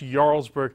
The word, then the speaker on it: Jarlsberg: speaking of melted cheese this one is called Jarlsberg expel to the J but it's pronounced Jarlsberg and its a Norwegian cheese that has a